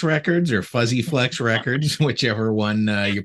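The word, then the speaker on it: Fuzze-Flex: It's been out for a year now on Fuse Flex Records or Fuzzy Flex Records, whichever one you pronounce it.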